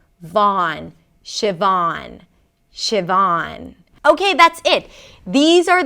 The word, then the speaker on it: Siobhan: You start with 'shi', 'shi', like "ship", 'shi'.